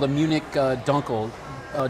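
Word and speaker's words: Dunkel: dark beer and it's called a Munich uh Dunkle uh duncle or correctly pronounced Dunkle in German means dark and so this is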